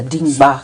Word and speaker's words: Dimba: What's Dimba? Dimba means the strongest wrestler. The strongest wrestler, Dimba. Yes. Am I pronouncing it well? Very well.